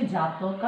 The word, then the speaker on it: জাতক: পালি উচ্চারণ হচ্ছে জাতকা, ইন বাংলা জাতক।